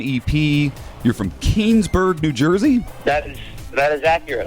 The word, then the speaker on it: Keansburg: Am I saying it right, Keansburg? Keansburg, that's 100% correct.